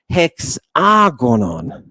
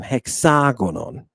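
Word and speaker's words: ἑξάγωνον: Do you hear where I'm putting the accent? This is the accent. What am I doing? I am stretching out that letter. I'm giving it twice the time. Hexagonon. All right. But notice there's a puff of air on the front of it.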